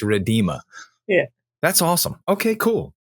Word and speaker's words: Rhiddima: It's Rhiddima. Rhiddima. That is how we're going to pronounce your name. So everyone who's going to be listening and watching this podcast or listening to this podcast, please pronounce her name correctly from now on, because she's not going to answer you anymore. So listen, you got to say it's Rhiddima.